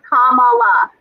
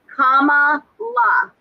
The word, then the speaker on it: Kamala: We need to pronounce her name correctly. So it is Kamala. Kamala. It's not Kamala.